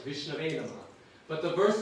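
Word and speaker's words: विष्णवे: That sometimes people mispronounce the Sanskrit. He says, some people say, you're supposed to say Vishnave Namaha in Sanskrit. I offer obeisances to Vishnu. But some people say Vishnaya Namaha.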